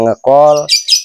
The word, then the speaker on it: ngecal: Kemudian istilah lagi ngecal dengan tulisannya ngecal dibacanya ngekol itu dengan artian dia memanggil jadi ngecheat biasa.